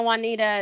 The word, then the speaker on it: Juanita: YouTube my name Juanita it's like Spanish I tell people it's like Spanish Juan a lot of people